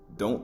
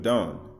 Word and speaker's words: Dan: is unraveling for you don't press send right so as we move forward Testament Testament of Dan so you want the present Testament of dawn right if you want to pronounce it right Don it's H1 h135 12